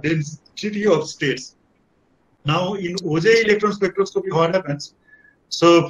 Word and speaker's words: Auger: Oh, OJ, okay, sorry. Okay, I call it OJ. Okay. Yeah. A-U-G-E-R, OJ. Yeah. Sometimes we will call it Auger, but we normally pronounce it as OJ electron spectroscopy.